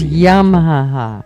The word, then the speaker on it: Yamaha: It's Yamaha. Say it right.